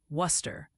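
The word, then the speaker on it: Wooster: Worooster is apparently Worcester, rhymes with rooster, not and Masselin is Masselin.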